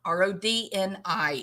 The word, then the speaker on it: Rodni: But we got Rando Ronnie, number one in the disappearance of Kiely Rodni, not Rodney, Dodney, Bobini, Fofini, just Rodney. Okay, Rodni. It's a fairly simple word to pronounce.